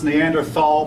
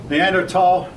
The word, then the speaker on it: Neanderthal: of humans the neanderthal that word has been pronounced neanderthal both are correct and a cro-magnon neanderthal um now there's some